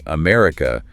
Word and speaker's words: America: And for longer words like America, the schwah is doing some serious rhythmic lifting. Okay, break that one down. Yes, the stress is on the second syllable.